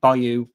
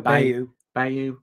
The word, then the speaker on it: bayou: had an Ireland princess we pronounce it Bayou no by you by you anyway we had someone